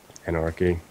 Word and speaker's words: Enarky: How do you pronounce that? Enarky.